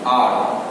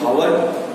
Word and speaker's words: hour: Silent consonant क्या, जैसे ये एग्जाम्पल एन आर. स्टार्ट तो होता है ये एच से, HOUR होना चाहिए हावर, लेकिन ऐसे नहीं होता है. एच साइलेंट हो जाएगा और followed with the vowel OUR आर.